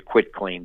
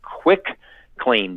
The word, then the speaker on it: quitclaim: going to use a quitclaim deed a lot of people mispronounce it as a quick claim deed like it's easy to